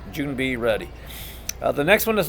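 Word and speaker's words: 준비: way you want just make sure you pronounce it June be like a junebug we have June coming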